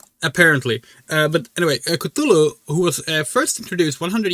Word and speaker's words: Cthulhu: So Cthulu uh Coutulu or Kulu um if we're going to go by how Lovecraft wrote the intended pronunciation, which is like put your tongue put your tongue up against the roof of your mouth and then uh try to speak K L U L U.